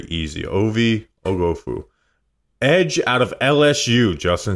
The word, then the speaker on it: Oghoufo: You look at the name, think it's going to be hard to pronounce. It's actually very easy. Ovie Oghoufo.